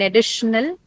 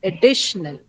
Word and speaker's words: additional: So in this case, in additional, the stress is on the second syllable D, right?